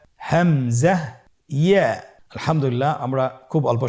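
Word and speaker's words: همزة: হামজা হরফটি উচ্চারণ ক্ষেত্রে বারিক করে উচ্চারণ করতে হবে এবং এখানে টেনে পড়া যাবে না, দ্রুত পড়তে হবে। আপনারা আমার সাথে বলুন হামজা। হামজা।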